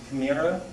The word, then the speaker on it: chimera: Also, when God gives out the soul to people, this first word, it's pronounced chimera.